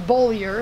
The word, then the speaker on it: Bollier: It's Bollier, right. But if you look at it, in the Army, my nickname was. Right. You wear a name tape and there's just a bunch of vowels, and they didn't want to bother pronouncing it.